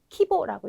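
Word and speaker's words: 規模: 딱 한 번 네, 규모인 경우에는 발음이 네, 키에다가 이제 보라고 읽어주셔야 되거든요. 요것 때문에 이제 시험에 많이 나오는데요. 한자도 간단히 보시게 되면 네, 그래서 키에다가 요 보자를 쓰셔서 키보라고 읽으셔야 되는 게 거의 유일하게 보라는 발음으로 읽히는 네, 단어입니다.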